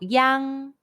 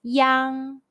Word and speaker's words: iang: Pinyin, the pronunciation is yang. It's like the sound of yang in the English word, but the G sound is barely pronounced and with mouth opened as wide as you can.